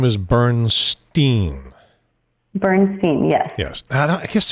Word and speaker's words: Bernstein: So what I would say is if you say Bernstein and use the Steen ending, you're more likely to get it right, because Bernstein and the